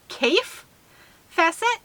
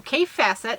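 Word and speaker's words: Kaffe Fassett: the designer's name is C facet believe let me know if I am saying that wrong still I'm I'm trying to work on it so K facet I think might be a more proper pronunciation and it's the colorful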